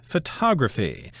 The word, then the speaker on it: photography: the first syllable but in the word photography the accent is on the second syllable and a person who